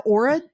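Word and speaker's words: Oura: I got an Aurora ring. You've heard of this, right? Yes. Am I saying it right? Aura ring?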